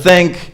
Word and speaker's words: think: you pronounce it incorrectly instead of think I had a lot of friends when they speak English it's gonna sound like sink and sink is it just a completely different action I think this is